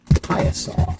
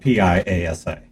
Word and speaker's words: Piasa: Piasa. Spelled Piasa, but pronounced like pie, like with cherry pie. A, or and then saw, like sawwood. So Piasa. It's spelled Piasa.